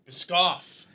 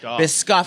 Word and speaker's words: Biscoff: Biscoff. Biscoff.